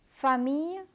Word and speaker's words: famille: Let me repeat the words that have double L and are pronounced as y. Famille, coquillage, billet.